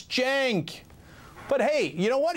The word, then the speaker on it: Cenk: The C is pronounced like a J, so it's Cenk.